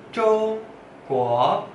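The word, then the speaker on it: 中国: Ya, sekali lagi, Zhong Guo, Zhong nada satu, Guo nada dua.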